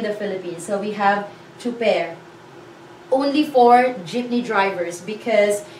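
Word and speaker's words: tsuper: It's t and s, it's ts, and then u, it's two. It sounds like ch, ch, but this one we spell it as t and s instead of c and h.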